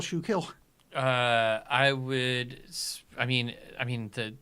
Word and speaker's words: Schuylkill: There's an L before kill. I'm not hitting the L very hard.